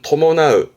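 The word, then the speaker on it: 伴う: 요거를 뜻으로 보게 되면 발음은 토모나으, 토모나으.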